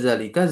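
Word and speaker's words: ذلك: Nah, ketika kita membaca zalika zanya dipanjangin seakan seperti ada alif. Karena kan di sini tbutu nutqan tetap dalam pengucapan alifnya. Maka kita katakan apa? Dalika dipanjangin. Ya, makanya harakat fathahnya itu sering diganti alif tegak di atas za untuk menandakan vokal pan vokal panjang.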